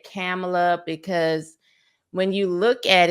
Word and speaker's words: Kamala: But once I learned how to say it, once her nieces said, like a period, but comma, and then la, I'm like, okay, Kamala.